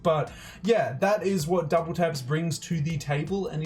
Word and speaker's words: WTAPS: getting well supreme is collaborating with japanese brand double taps spelt wtap s it's pronounced double taps this brand was founded in 1996 two years